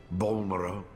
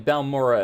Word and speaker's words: Balmora: of these sites since I've been pronouncing these two wrong the entire time I was saying Bal Mora and Al run all right unless he's